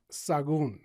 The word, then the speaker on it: Sahagun: Sagon. Sagon. Oh, it gets butchered.